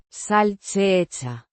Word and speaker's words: salchicha: Pronounced. Sal-chee-cha. With a soft Che. sound, similar to the ch in cheese.